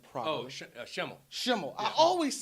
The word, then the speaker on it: Schemmel: how do you say your last name promotional Chimel I always said it right there I've always